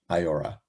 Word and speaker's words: IAOHRA: rights agencies we usually refer to it by its acronym and our unique pronunciation of it iora for those of you